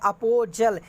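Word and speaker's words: apostle: दूसरा है अपोजल, यहाँ पे टी साइलेंट है, तो इसका मतलब होता है प्रचारक, बिल्कुल करेक्ट आंसर।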